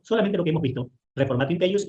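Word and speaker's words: reformatio in peius: Se pronuncia reformatio impeius. ¿Qué es la reformatio impeius?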